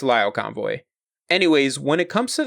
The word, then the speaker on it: Lio Convoy: been here by now in the last series I pronounced his name Leo Convoy it's Lio Convoy anyways when it comes